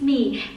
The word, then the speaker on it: My: My name is Me. It written like my in English but pronounced like me in Vietnamese.